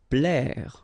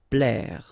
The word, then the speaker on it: plaire: Plaire. Okay, remember A and E together will produce the sound E. Plaire.